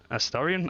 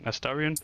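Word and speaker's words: Astarion: play as a Starion Astorian I keep saying that name wrong astarian Aryan thank you a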